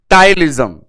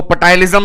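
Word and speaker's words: ptyalism: term है टाइल जम हालांकि पी से शुरू होता है पर पी साइलेंट है यदि मेरे देश के जवान पी साइलेंट ना करें तो पटायम भी बोल सकते हैं देसी भाषा में पर लॉजिकली पी साइलेंट होता है टाइल जम टाइल जम का मतलब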